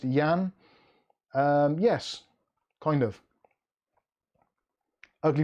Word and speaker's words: Jan: many syllables one uh clicktech kev says jan pronounced yan um yes kind of ugly bob's triggered aletta